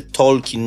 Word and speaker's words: Tolkien: temat powiem dla wszystkich nazwisko autora właśnie czyta się Tolkien nie Tolkien bo to jest najczęściej popełniany błąd Tak Tolkien mi ostatnio nawet